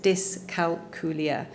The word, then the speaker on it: dyscalculia: It's pronounced as dyscalculia.